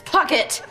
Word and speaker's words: Puckett: Pronounced bouquet, dear. Cat Valentine and Samantha Bouquet? It's Puckett.